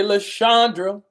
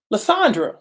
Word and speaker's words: Lissandra: in the building missionary LaShondra me said no I said it wrong lissandra okay lissandra in the building IG